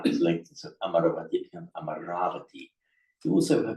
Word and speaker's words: Amaravati: name of the place, please never say Amaravati. It will cause me enormous dukkha to hear this. It's Amaravati. Amaravati. Even some of the monks there horrified me by mispronouncing the name of their own monastery.